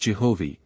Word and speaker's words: Jehovih: Which is now pronounced Jehovih, and is written thus.